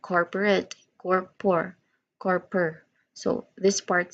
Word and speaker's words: corporate: So it corporate. So we pronounce it again, this one as corporate.